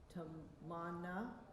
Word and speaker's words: Tamannaah: Tamannaah.